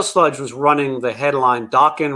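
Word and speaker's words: Dokken: Um, Meadow Sludge was running the headline Dawkins rhymes with talking.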